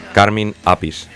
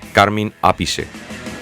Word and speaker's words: Carmine Appice: menos que del grandioso carmín apis que creo que realmente se pronuncia carmine appice pero bueno ya sabéis